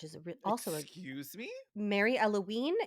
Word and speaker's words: Eloine: Mary Eloine, which is also excuse me, Mary Eloine. It's spelled like Eloise except with an N instead of an S.